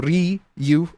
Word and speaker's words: Ryu: is the the Ryu Riu as in you that's the correct pronunciation but yeah also the